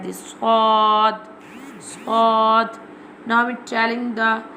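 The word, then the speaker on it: ض: Zad. Now we telling the pronunciation of zad. Zad pronounced from the sides of the tongue touching the roots of the upper molar top back teeth like this zod zod.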